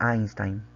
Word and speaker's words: Einstein: Albert Einstein. Así se pronuncia, ¿sí? La en alemán se pronuncia como A.